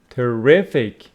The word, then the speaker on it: terrific: So here we got terrible, stress on the first syllable. Here we have terrific on the second. Terrific, terrible, terrific. Let's see what terrific means.